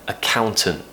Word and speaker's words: accountant: so you could say accountant but I usually recommend pronouncing that T at the end just to make it nice and clear another very common one